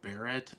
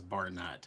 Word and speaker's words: Barrett: Throughout my entire life, everybody has pronounced Barrett as Barnett.